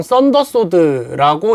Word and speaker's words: 전룡검: 전룡검이라고 쓰고 보통 썬더소드라고 읽습니다. 이 전룡검이라고 하는 기술은 일자 전승, 그러니까 단 한 명에 의해서만 계승이 되는 이 검술인데요.